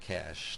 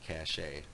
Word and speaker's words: cache: a cash is and that's pronounced cash not cach a um in short it